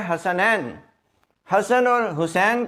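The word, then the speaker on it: حسن: और अगला लज देखें हसन हजरत अली बिन अबी तालिब अल सलाम के बेटे बाज लोग इसके जो स्पेलिंग है अंग्रेजी में वो गलत लिखते हैं एच A double S ए एन ऐसे नहीं है क्योंकि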